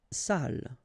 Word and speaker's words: salle: Salle. Une salle. Okay, so even if you get the double L here, it will be still the same pronunciation as this one.